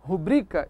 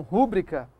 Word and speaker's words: rubrica: Eu devo dizer, por exemplo, rubrica e não rúbrica.